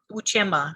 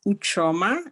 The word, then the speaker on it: Ucheoma: My name is Uchoma. You pronounced it really well. But you can call me Uche for short.